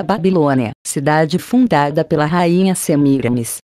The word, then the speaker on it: Semíramis: cidade fundada pela rainha semiramis cujo nome aqui deve ser pronunciado como paroxítona semíramis e viviam em casas